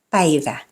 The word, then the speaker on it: päivä: The front vowel A is pronounced like the A in cat, but more fronted. The tongue is positioned near the front of the mouth. So it's A. Ämpäri. Käsi. Päivä.